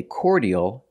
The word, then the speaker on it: cordial: word is pronounced cordial in American English cordial make the or sound like four and or core the D makes a j sound like juice and jump and the second syllable